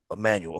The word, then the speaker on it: Emanuel: I had it in my notes about asking um how do you pronounce his last name? Ari Emanuel. Emanuel.